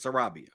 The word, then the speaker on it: Sarabia: can actually search and see what the proper pronunciation is Sarabia I see well that makes sense then um